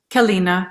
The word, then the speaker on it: Keleena: Keleena, yeah.